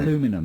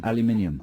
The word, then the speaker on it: aluminium: Well, that's how the Americans say it, isn't aluminum it? instead of aluminium.